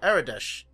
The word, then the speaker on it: Aradesh: Hey, if you have the means to help us, why don't you talk to our leader, Aradesh? Am I pronouncing that right? Yes.